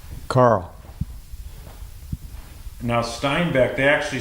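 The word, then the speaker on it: Steinbäck: Now Steinbeck, they actually spelled it with B-A-C-K back then, right? Yeah, but it's pronounced, with 2 dots above it, it's pronounced E in Swedish.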